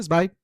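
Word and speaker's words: Zweig: Bueno, el primero es Stephan Vike, o sí, Svike, me parece que se pronuncia.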